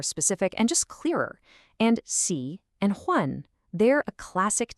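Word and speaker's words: 喜: And just like wa, this character is also a third tone. Feel that dip. Xi.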